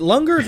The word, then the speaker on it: Lungers: Sorry, is it Lungers or Lungers? It's spelled Lungers, and all I can think of is Lunger. I would say Lunger. And then I like to tell people it's both.